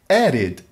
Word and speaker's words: added: worked, /t/ Loved loved, /d/ Added added /id/ Veja esses exemplos: Som